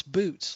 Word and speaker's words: Boetes: then to the right is Boetes, but it's boots, like shoes, but it's spelled with an E.